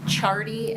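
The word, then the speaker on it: Ciardi: Rapham, state calls Jeff Chardy, and that is pronounced spelled C-I-A-R-D-I.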